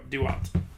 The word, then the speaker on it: Duat: thing to the underworld it's spelled d-u-a-t so there you go do what the afterlife is like